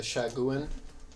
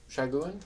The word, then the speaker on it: Sahuagin: Shaguin? Saguin? I think it's like Sagaheng. Sahugin? Yeah, you're right. I don't know. I How don't know what the to spell it? spelling is. Yeah, I don't know. Sahaugin. Sahuagin. Sahuagin. Sahuagin.